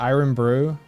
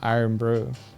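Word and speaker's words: Irn-Bru: cans did you know that I learned that iron brew has caffeine in it and the reason I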